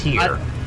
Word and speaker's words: Tyr: And I like TYR, but That's tier. yeah, whatever you want to call it. A lot of people just pronounce the letters.